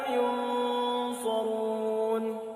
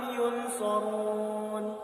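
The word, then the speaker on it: ينصرون: Mereka membaca wala hum yunsarun. Padahal hukum tajwid di sini adalah hukum ikhfa hakiki yang harus dibaca samar-samar. Ya. Bacanya wala hum yunsarun.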